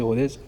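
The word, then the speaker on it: Rodez: à Rodz, j'ai bien prononcé Rodz.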